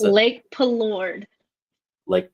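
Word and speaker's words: Palourde: Lake Pelord. Lake Pelord. Okay. It doesn't look like Pelord when I look at it, but anyways, yeah.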